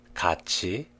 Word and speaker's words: 같이: When the last consonants of front syllables, 디귿, 티읕, 리을 티읕, and the next syllable, 이 meet, they are pronounced as 지읒, 치읒. This is what we call palatalization. Let's look at the following example.